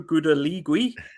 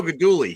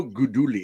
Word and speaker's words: Guidugli: And then you've got, I can't pronounce his name, but your offensive coordinator, Gino Gudaligui. Gino Guidugli. He's a former Bearcat quarterback. I don't speak pasta, so Gino Guidugli.